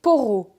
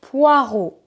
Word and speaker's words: poireaux: poireaux des poireaux alors en fonction d'où vous allez la prononciation pourrait être différente par exemple en Belgique ce légume on le prononce des porau des poraux mais en France on dit des poireaux ici j'ai un filet